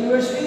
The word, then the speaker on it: university: University is a noun, so you will pronounce it you.